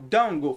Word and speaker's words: don't: go James pessoas falam dongo faz essa abreviação essa contração mas é a abreviação de note do not go don't go e também geralmente eles não eles não pronunciam esse te aqui aí vira só frango